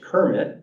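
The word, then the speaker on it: CIRMMT: Partnerships and we have one going um that's pronounced Kermit um and it's a um special Center up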